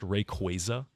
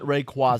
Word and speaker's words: Rayquaza: Did you know that apparently Rayquaza is pronounced Rayquaza? Rayquaza? Yeah, it sounds so wrong to me.